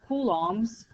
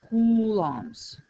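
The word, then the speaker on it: coulombs: name and this is how you actually say kums because you know you spell it completely differently this is how you pronounce it kums okay kums okay so if the current is the flow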